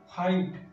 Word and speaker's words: fight: आ रहा है तो इस वर्ड का GH जो है वो साइलेंट हो जाएगा और ये क्या हो जाएगा, FIT, फाइट। फाइट इसको हम पढ़ेंगे।